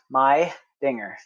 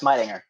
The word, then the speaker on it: Meidinger: the marine corps um my last name is german and it's pronounced my dinger okay so you say fast midinger but as you get